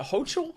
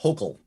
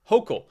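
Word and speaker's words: Hochul: she's not a hotel is it ho chill hachel it's actually pronounced hulkel hokel so that makes me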